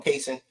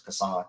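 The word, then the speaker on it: Cason: And then nothing is wrong with bringing Kentucky fans call him Kaysen. Supposedly now he made a video or last year or whatever, say his name is Kassan, but I'm going to still say Kaysen.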